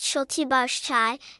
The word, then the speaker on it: Šaltibarščiai: Šaltibarščiai, pronounced Šaltibarščiai, is a traditional Lithuanian dish that is also known as cold borscht or Lithuanian pink soup.